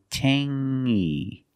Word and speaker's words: tangy: have the same sound it's the nasal sound only Tangy Tangy it's not Tangy